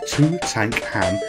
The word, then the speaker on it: Tutankham: dark pool well actually it says look two tank ham it says it clearly above and that's how I'm going to pronounce this game this game is on